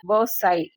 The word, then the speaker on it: Versailles: இந்த வேர்டு எப்படி ப்ரொனவுன்ஸ் பண்ணுவீங்க? வெர்சை.